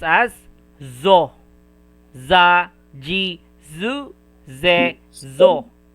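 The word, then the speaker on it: ぞ: And also this one, it is so, but if you put 1010, it will pronounce as zo, za, ji, zu, ze, zo.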